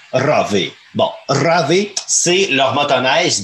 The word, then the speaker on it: Rave: Bon, le Ravi... Ravi. Comment? C'est ça? Ravi, ouais. Ben, bon. R-A-V-E, Rave. C'est eux qui le prononcent de cette façon-là. Moi, mes souches sûrement scandinaves, quelque part, Ravi.